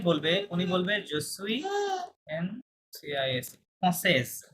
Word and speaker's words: française: বাট যখন একজন female বলবে উনি বলবে জসুই NCIS ফ্রান্সেজ, কি বলবে ফ্রান্সেজ। লাস্টে দেখেন একটা অতিরিক্ত ও বেশি আছে, তখন আপনার এস পর্যন্ত উচ্চারণ করতে হবে, তাহলে ফ্রান্সেজ হবে।